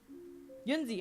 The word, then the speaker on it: Yunzi: Or not Uzi. This is a Yunzi. Yunzi. Okay, there we go. I was like, fuck, I'm getting the name wrong.